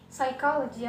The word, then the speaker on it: psychology: Kemudian huruf P. Di sini ada psychology, ya. Jadi P-nya tidak diucapkan.